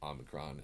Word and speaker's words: Omicron: gonna argue with anybody if they want to pronounce the Omicron and the Omega similarly but that's just my